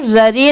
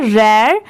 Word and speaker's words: rare: रेयर, RARE, यहाँ पर ररे नहीं पढ़ेंगे इसे, इसकी प्रोनाउंसिएशन क्या है, रेयर।